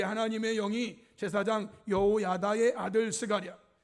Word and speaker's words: 스가랴: 그리고 제단과 성전 사이에서 죽임을 당한 사가랴, 이 사가랴는 신학적인 발음이고 구약적 발음은 스가랴예요.